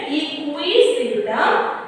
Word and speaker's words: Equisetum: Pronounce it correctly, children. Equisetum Azolla.